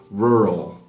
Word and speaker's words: rural: guys know this word the pronunciation might be a little bit difficult rural rural so even the pronunciation for me I have to be a little bit careful because it's rrl rural just means very countryside